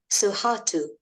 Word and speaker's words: Sohatu: He's called Suharto. I'll spell that for you so you can find out more about him on our website.